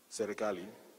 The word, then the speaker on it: Serikali: Ojode was nicknamed Sirkal. He earned the nickname from the way he pronounced Serikali, the Kiswahili word for government.